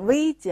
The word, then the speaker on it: Витя: 我们许多中国人容易读成 Витя 啊，受汉语的影响，这个词儿呢应该读作 Витя。живем, сегодня。